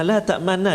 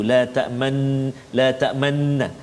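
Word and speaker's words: لَا تَأْمَنَّا: Iaitulah pada kalimah la ta'manna ni, cara baca dia ialah kita kena muncungkan mulut kita seolah-olah kita membariskan dhammah mim tu, sebab dia asalnya la ta'manuna dia hasafkan satu nun, jadi dia jadikan sabdu la ta'manna, tapi dia ada ismam tu la ta'manna.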